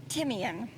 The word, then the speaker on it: Timian: Oh, Timian. Timian? Timian. Timian. It is the German word for the herb thyme.